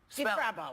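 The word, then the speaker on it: Difrabo: DeFravo? As this is also... DeFravo. DeFrappo. DeFrappo? Can you spell it? Yeah. DeFravo. DeFrabo. Okay. Spell it.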